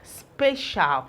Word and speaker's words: spatial: All right, let's try another word, spatial. I want us to still get this shall. Remember, potential. The C-I-A-L is pronounced shall and not this shall.